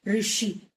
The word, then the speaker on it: ऋषि: लेकिन जब हम इसका उच्चारण करते हैं ऋषि। तो हमारा मुंह हमारा जो जीभ के दोनों कॉर्नर है सामने वाला पार्ट टच नहीं होता। जीभ के दोनों साइड वाला पार्ट में कंपन होती है और ये हम बोल पाते हैं।